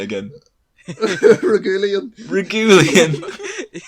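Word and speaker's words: Reguilón: him right say that again how did you pronounce that I can't even say it yet what you please say it again regulan regulan sounds like a li regulan oh my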